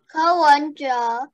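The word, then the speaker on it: Ko Wen-je: Ko Wenja.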